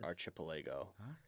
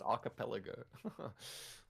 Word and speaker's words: archipelago: tossup between this region and the nearby Buccaneer archipilago a jaw-dropping Was that right or wrong? Pretty sure it's pronounced archipelago and the nearby buccaneer archipelago.